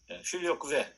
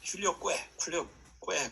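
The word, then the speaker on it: Filioque: 필리오라는 말은 아들이라는 말이고 쿠베라는 말은 쿠에 QUE 이것을 이제 읽을 때는 Q 다음에 있는 U는 그 V 발음이 난다고 해서 쿠베 그렇게 필리오쿠베 그렇게 얘기하는데 어떤 사람은 필리오쿠에 그렇게 얘기도 해요.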